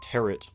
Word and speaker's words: tarot: Like I've never heard of a tarot horror movie. I keep wanting to say taro, a tarot horror movie, and they do make fun of the pronunciation of it.